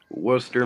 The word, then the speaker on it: Worcester: wow I love like that Worcester Mass that went to Worcester Massachusetts okay is